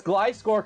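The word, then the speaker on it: Gliscor: insane gero salamance gisore glcore and Zapdos I okay can I just rant at you really quickly glore right but let me rant at you it's glcore cuz it Glides it's a no no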